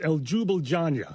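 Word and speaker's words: Ljubljana: I don't know how to pronounce these. Okay. But Slovenia is El Jubiljanja.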